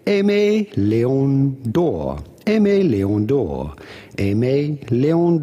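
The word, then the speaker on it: Aimé Leon Dore: Aimé is a relatively common name from French, which means loved. Then obviously Léon, and then door. Because there is no accent on the E of door, you have to assume it is said door and not doré.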